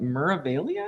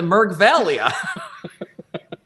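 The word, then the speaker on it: Meraviglia: worldly Cruise what's that that's how you say that muralia yeah or's the G it's silent okay sorry sorry um that would be weird to pronounce meria I've always called it the merg Valia sorry she sales with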